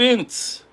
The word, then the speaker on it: Ince: Steve Ince. I finally know how to say his name. Hello, Steve. Thank you for coming back, brother. Kindred spirit. Steve Ince. It's like mints.